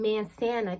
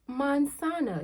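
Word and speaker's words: manzana: the same vowels okay if you're saying man santa can i have a man santa please talking about an apple and they're looking at you like you're not saying it right okay it's monsanto you see you hear that difference from man santa to monsanta if you master the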